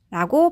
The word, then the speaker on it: health: 그리고 TH는 네, 혀를 살짝 물고 이렇게 발음하셔야 되죠. 그리고 뒤에 모음 없으니까을 붙여서 health라고 발음하시면 되겠습니다.